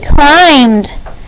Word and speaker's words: climbed: ready begin climbed c-l-i-n-b-e-d climbed she climbed the wall uh that b sometimes is left out because it's you don't hear it very harshly in that sound number 31 what is